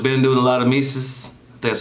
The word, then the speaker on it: Mesus: i should have been doing a lot of mises that's how you say his name is may seuss and i'm just playing mises and uh i